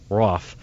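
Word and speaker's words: Roof: spelled roo f but it rhymes with cough so it's dylan so I'm Rauf the facebook profile picture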